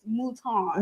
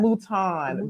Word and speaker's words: Mouton: It's Mouton. Mouton.